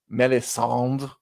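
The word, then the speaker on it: Melisandre: read them too and Roy doce pronounces her name melis instead of melisandra and I'm like I'm always saying it that way from now oh like like like frenchly like he doesn't finish with the re just melis like M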